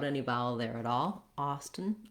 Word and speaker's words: Austin: vowel there at all austin austin we do say this t sound let the air out of that t sound um so we have